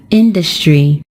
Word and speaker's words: industry: It is stressed on the first syllable, and we pronounce it as industry.